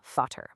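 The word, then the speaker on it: Vater: The V sounds like an F. So F, the word for father, is fod.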